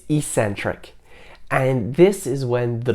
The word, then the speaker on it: eccentric: The next kind of contraction is the eccentric contraction, not eccentric. A lot of people pronounce it that way. It's eccentric.